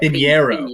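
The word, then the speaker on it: Pineiro: Pinierro.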